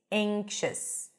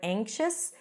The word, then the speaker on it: anxious: he looked around anxiously anxious technically it's the a as in cath but before the NG sound which we have here in the word anxious it sounds more like an a sound anxious anxious he looked